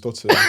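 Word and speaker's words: Dotun: But I found out your real name's Dotton.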